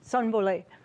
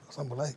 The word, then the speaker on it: Sonbole: Pronounce the first name. Sonbole. Soberlease.